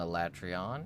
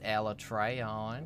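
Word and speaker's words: Alatreon: It's not Elatrion, it's Alatrion.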